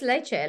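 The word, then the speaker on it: leachate: Can the lecete, how do you say that? You say lecete? I call it leche tea, leche. But it's leche. Like, you know, like when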